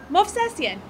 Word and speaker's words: Movsesian: How do you say it? Movsesian. You say it like you said Smith.